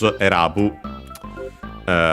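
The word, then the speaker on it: 選ぶ: Erabu should be accented.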